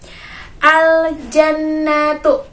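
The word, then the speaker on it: ٱلْجَنَّةُ: aljannatu disitu ada ABS lam bertemu dengan huruf ja atau diiringi dengan huruf ya maka huruf lainnya itu harus terdengar jelas harus dibaca dengan jelas dibacanya Seperti apa aljannatu bukan aja nah tuh nah kalau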